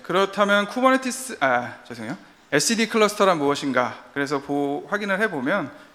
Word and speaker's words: etcd: 네, 오늘은 SCD 클러스터에 대해서 얘기해 보려고 해요. 저는 이제 보통 etcd라고 부르는데 이제 여기 그 영미권 친구들은 SCD라고 그러더라고요. 그래서 저도 이제 힙하게 발맞추기 위해서 저도 한번 SCD라고 발음해 보겠습니다.